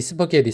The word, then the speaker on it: spaghetti: 예전에 학교였어요 오늘의 영어입니다 스파게티 발음은 스파게티 스파게티 스파게티 스파게리 스파게리 스파게리 이렇게 하시면 되고요 원래는 이게 이탈리안 이탈리안 발음 이잖아요 스파게티 이데 미국에서는 스파게티라고 합니다 그래서 스파게티 뜻은 스파게티 10